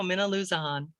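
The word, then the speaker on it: Minnilusa: You didn't trust yourself, so you made kind of a break there, but no, Minaloosahan.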